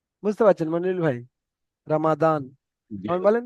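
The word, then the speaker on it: رمضان: নিচে লেখা রয়েছে জদ কিন্তু জদ হবে না জদ এটা উর্দু থেকে উচ্চারণ হয় যেমন উর্দু ভাষার মানুষেরা কেমন বলে রামাজন রমাজান ওখানে পড়েন ওনা ওনারা উর্দু জদ রমাজান কিন্তু আরবি থেকে যে সমস্ত ভাইয়েরা বলেন রামাদান রামাদান ত আর জর মাঝখান থেকে বলে রমাদান বুঝতে পারছেন মন ভাই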